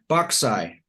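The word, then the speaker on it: boxae: bauxite that's spelled b-o-x-a-e it's a made-up word but it kind of sounds like it might be Latin plural for boxes boxai another rapid child fills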